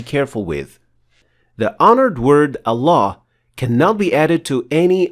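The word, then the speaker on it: الله: The first alif is lightly pronounced, as in the word at, so it is not a full mouth ah, but a.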